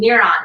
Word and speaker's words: MIERON: i'm so excited that you got the name niron right um sometimes there's a little mispronunciation in there but once you learn where